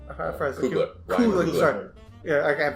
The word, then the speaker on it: Coogler: James Gunn, Coolidge, Coogler. Coogler, sorry. Yeah, I can't pronounce his name.